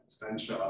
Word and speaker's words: Featherstonhaugh: The Fenshaw, so his name is spelled Featherstonhaugh, but like the English like to do, it's Fenshaw, so drop a whole bunch of letters.